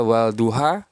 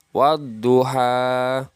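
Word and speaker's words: والضحى: dibaca dengan Wal duha Ya dibaca walduha salah yang benar dibaca wadduha atau juga di lafal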